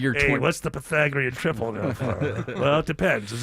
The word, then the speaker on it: Pythagorean: Pythagorean, not Pythagorean. Pythagorean. To get the Pythagorean triple, that's going to cost you extra.